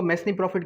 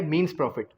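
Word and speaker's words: mesne profit: मैसनी प्रॉफिट कहते हैं, लेकिन इसकी एक्चुअल जो प्रोनाउंसिएशन है वो क्या है? मीन्स प्रॉफिट। क्या है? मीन्स प्रॉफिट। ठीक है, लेकिन पढ़ा इसको अगर आप वर्ड को देखेंगे तो वो वहां पर है मैसनी प्रॉफिट।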